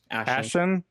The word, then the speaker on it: Ashon: Ashon.